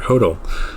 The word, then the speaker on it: HODL: What you want to do is you want to hodl or hodl. I've heard it pronounced both ways, but basically this means you're holding on to your crypto assets.